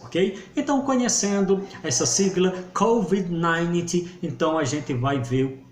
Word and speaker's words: COVID-19: Nós falamos do Covid-19, né? Então, como é que nós pronunciamos essa palavra em inglês? Nós vamos dizer COVID-19.